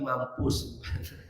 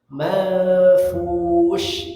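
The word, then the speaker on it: المنفوش: bar silakan nah hati-hati tertukar dengan sin bukan Man bukan manfus bukan apalagi mampus manfus bukan manfus bukan tapi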